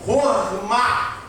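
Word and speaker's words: חכמה: Somente o conceito de habilidade aqui tá na palavra hormar no hebraico, que traz todo o conceito de habilidade temendo a Deus. A palavra pronúncia é essa mesmo, rorma, que é a habilidade aprendida com temor ao Senhor.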